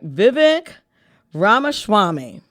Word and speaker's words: Vivek Ramaswamy: Vivek, let me make sure I pronounce his name, Mike. Vivek Ramaswamy.